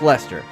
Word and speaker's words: Leicester: And yes, it is pronounced Leicester.